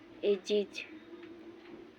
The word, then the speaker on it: ages: बैग्स थैले, eggs अंडे, AGES ढेर जना एज पढ़न है, तेकर सही उच्चारण है एजिज युग।